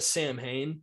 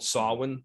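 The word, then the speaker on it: Samhain: but that Michael is um they Loom is pronounced as a Sam Hayne but really it's called sawwin you know the the real Fest of October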